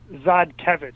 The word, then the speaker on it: Zadkevich: Zadkevich. Okay, so Yeah, the R is... Okay, so the R is completely silent. The R is basically silent.